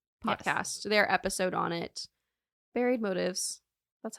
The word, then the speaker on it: Buried Motives: Buried Motives.